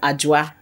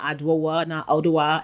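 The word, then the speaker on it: Adwoa: it's a ghanaian brand it's pronounced ajwa okay not advan it's beauty okay which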